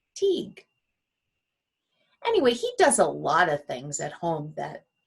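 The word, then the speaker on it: Taghd: It's spelled kind of funny for us. It's T-A-G-H-D, but it's pronounced Teague.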